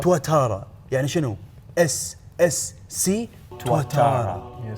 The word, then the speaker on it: Tuatara: SSC تواتورا. هذا اسم ديناصور. بس النطق الصحيح مالها الصحيح أيوه. تواتارا.